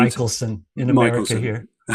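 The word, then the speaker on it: Michelson: Moley or Miklson Moley correct me if I'm pronouncing it wrong um experiment Michaelelsson in America here okay um well maybe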